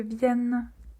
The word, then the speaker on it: viennent: Quand on dit il, il, il faut bien prononcer la lettre N. Il viennent. ell viennent.